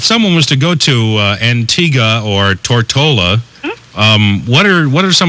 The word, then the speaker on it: Antigua: Now, ma'am, you say that I pronounced Antigua wrong? Well, yes, it's Antigua, actually, and I'm sure you have a lot of West Indian listeners.